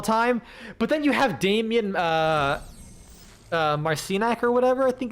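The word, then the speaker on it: Damjan: But yeah, like like for for example, Damian, uh his name is actually D A M J- an like you think it's pronounced Dam Damjin or whatever, but it's actually Damian because Croatia uh T-Bone Junction.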